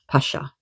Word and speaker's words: pasha: So, the word I was looking for with the snake that she made uh a rope is a pasha. P a s h a pasha or p a s with a hyphen on